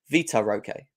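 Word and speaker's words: Vitor Roque: got said it right I keep saying Victor Vita Roque Vita okay that's it um so yeah interesting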